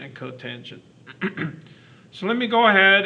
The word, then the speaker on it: cotangent: And the last one is spelled COT, and it's pronounced the cotangent of theta.